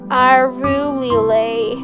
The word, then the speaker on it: Arulilei: Am I saying it right? No, I reply numbly. You have to say it like this. Arulilei.